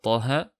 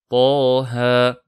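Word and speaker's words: طه: Par exemple, dans Surat Taha, on récite Taha, 2 temps, puis 2 temps.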